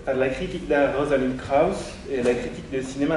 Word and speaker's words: Krauss: Rosalind Krauss, ça fait très allemand, prononcé à la française, Krauss, dans son texte pour